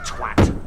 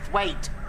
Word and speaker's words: Twat: Twat. It's pronounced Thwaite. Well, it's spelled Twat.